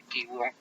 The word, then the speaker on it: Qigong: Incluso en pacientes con cáncer, la respiración profunda bajo la forma de mindfulness o Qigong, se pronuncia Qigong, contribuye a disminuir en más del 50% el estrés asociado a la enfermedad como causa-consecuencia y también el dolor.